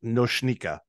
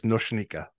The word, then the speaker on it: Noika: I should tell you my name is pronounced noika I put it on the slack as well but in case you want to mention it to someone else the name is noika okay thank you very